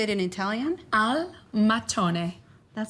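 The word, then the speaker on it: al mattone: Al matone.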